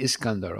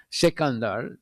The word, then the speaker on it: Sikandar: So, but you can pronounce a little bit different in different languages, but Sikandar is the way you say it in Hindi.